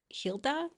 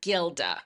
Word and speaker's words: Gilda: It is the Hilda. Hilda. Okay. However, in English it would be pronounced Gilda.